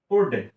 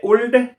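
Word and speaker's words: would: आपको बता रहा हूं उड डब्लू ओ यू एल डी तो आप अगर इसका उच्चारण लेते हैं तो होना चाहिए उल्ड उल्ड होना चाहिए ना एल का एल की आवाज निकलनी चाहिए लेकिन नहीं एल की आवाज नहीं निकालना है आपको क्योंकि मैंने अभी आपको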